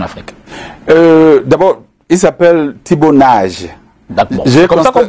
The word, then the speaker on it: Nagy: Ses parents étaient d'origine hongroise, donc il s'appelle Thibaut Nagy. Et on prononce comme en hongrois. Oui, voilà. Tout à fait, Nagy comme en hongrois.